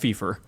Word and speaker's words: FIFA: um now playing this it's pronounced Fifer Fifer okay it is the